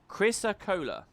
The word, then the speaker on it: chrysocolla: Okay, Jerry thinks that it is pronounced chrysocolla. Hey, that was one of the ones I guessed. Chrysocolla, according to the good old English dictionary.